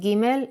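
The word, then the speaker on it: ג: the alet is giml the sound of giml is G let's first see how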